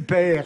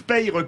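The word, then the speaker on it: Payre: remarqué, c'est que Denis Père a échappé au calembour que j'attendais de Philippe David. Ah, vous voulez dire Denis Père a perdu? Mais non, parce que moi, je prononce Peyre comme dans le Sud.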